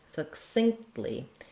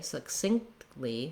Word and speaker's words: succinctly: sync syncedly syncedly succinctly so i'm gonna not burst out that t not synced syncedly but syncly where it almost kind of drops off what happens there though is that i stop for the k succinctly succinctly and then